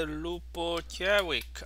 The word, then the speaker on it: Ljubojević: okay so it's by lupo jerick i don't know how to pronounce this i please the first j is not not um pronounceable so so it's silent so it's a loop